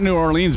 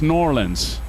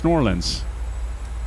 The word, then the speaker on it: New Orleans: in we're flying it's it's not New Orleans bunny you know this it's norleans it's norleans you got to pronounce it right it's nor Orleans